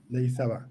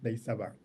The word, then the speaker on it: Ndayisaba: Ndayisaba. Ndayisaba.